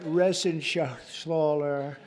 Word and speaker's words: Reschenthaler: You know that Reschenthaler. That's actually the way you pronounce it, you know. Nobody else gets it right. I got it right, but it's a hell of a name.